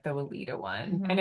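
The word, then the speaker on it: Weleda: I really like the company Weallda. It's a German company and it's, we'll put it in the show notes, but I'm gonna learn how to spell it. Weallda. It's pronounced Weallda in German because they pronounce.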